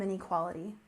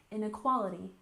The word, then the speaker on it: inequality: off we have income inequality with stress on the first syllable income income inquality we stress the second syllable inequality inequality Al together income inequality and